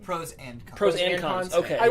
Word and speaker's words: Pros/Cons: Is that the correct way to say it? Pros and cons.